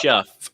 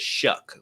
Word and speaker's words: Shough: It looks like Shuff. It looks like Shuff, but it's Shuck, like shucking corn.